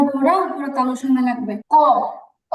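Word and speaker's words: قاف: তালুর সাথে লাগাতে হবে আর এই কফ উচ্চারণের ক্ষেত্রে আমাদের আমাদের জিহবার ভিতরে আরেকটা ছোট জিহবা থাকে জিহবাটাতে হালকা ধাক্কা লাগবে তো দেখি আমরা একটু খেয়াল করি জিহবার গোড়া তারপরে তাল শুন লাগবে কফ ক কফ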